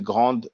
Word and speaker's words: grande: it's for male female but in french for masculine will say gran for feminine we will say grand you know so usually